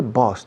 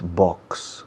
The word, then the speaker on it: boss: My boss, y se dice boss, por favor no digáis box. Box es caja. Boss. Es curioso que os cuesta pronunciar la X, pero luego con la palabra boss me dais una X siempre. Y estoy desesperado pensando, tirándome los pelos. Boss, un S simple, un S líquida, boss.